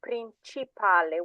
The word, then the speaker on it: principale: When you see the word principale, it's principale. When you've got a C that is followed by an I or an E, it's a ch sound, not a k or a s.